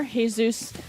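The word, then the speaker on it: Jesús: Chicago have announced their brand new drummer hey-zeus Carranza so congratulations to Hayes for joining second all that spelled like de Jesus yes Bernie Empires from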